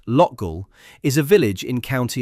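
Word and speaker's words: Loughgall: Lofgul, pronounced Lgull, is a village in County Armar.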